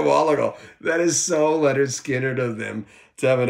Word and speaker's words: Lynyrd Skynyrd: at all the albums and I'll reiterate this pronounce Leonard Skinner the debut uh I'm moving again yeah Pookie